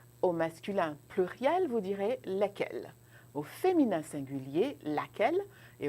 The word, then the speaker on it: lesquels: Donc, vous ferez des liaisons quand vous aurez un nom qui commence avec une voyelle. Mais pour l'instant, nous allons prononcer simplement lesquels.